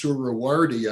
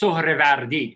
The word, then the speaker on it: Sohrevardi: So it's pronounced Sohrevardi. Sohrevardi, sometimes written Surawardi because that's how it's transcribed in Arabic. It has to do with the fact that there's no V in Arabic, and you know, all